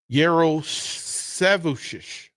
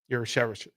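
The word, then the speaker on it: Jarusevičius: Yarosevicius. Yep. Yer. So you're not going to pronounce the J. Yeah. And Yer or Yar, but Yer is what was preferred. Ooh. Sev. Ooh. Chish. Huh. Yarosevicius.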